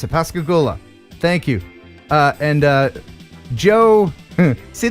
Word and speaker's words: Pascagoula: I know how to pronounce it. Pascagoula.